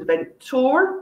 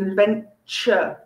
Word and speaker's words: adventure: exciting times okay but it's not an event tour it is an adventure almost like a ch a sort of sound you would expect to come from a ch it's actually adventure next one a very